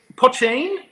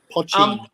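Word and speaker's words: poitín: Is it Potchine? It's Potchine. Potchine. In Irish, "een" is like a diminutive. It's like to say it's like a little something.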